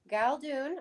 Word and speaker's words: Galdun: So, Suzanne Galdun, I pronounced Yep.